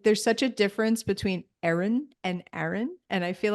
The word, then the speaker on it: Erin: like what is it I'm like Aaron and they go Aaron you have to say Erin so it's so funny